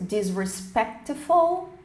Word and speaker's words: disrespectful: E depois temos disrespectful, o C aqui não é pronunciado como respectful, desrespeitoso, desrespeitosa.